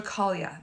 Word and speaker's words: Caglia: my name is angela caglia the g is silent like lasagna i have been an